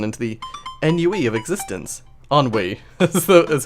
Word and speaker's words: ennui: Ennui is how you pronounce that.